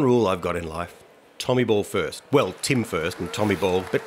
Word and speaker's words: Tommyball: ways to be honest art Tommy ball not Tommy Bowl no no no no tell me well know when the game internationalised of course a bit of this comes in and that's fair enough different places and different pronunciations but I'm a bit of a traditionalist so I I stick with Tommy ball what about did you